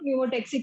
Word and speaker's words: pneumotaxic: Very good, न्यूमोटेक्सिक centre, P silent है।